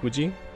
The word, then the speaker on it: Fuji: read it's funny that it's called mount hooji because in japanese there is no hoof sound it's actually who fu like mount fuji but it kind of comes out as a who if you say it properly so it's really just mount fuji excuse me but guys